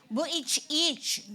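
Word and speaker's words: Vujicic: and he died 2023 I research on how to say his name. He is Nick Buic. That's how you read it.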